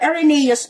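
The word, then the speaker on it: Irenaeus: However, you would like to pronounce po Ereneus po pero yung sa nakalagay po mahirap po siyang i-pronounce no pero Ereneus po yong yung pangalan niya.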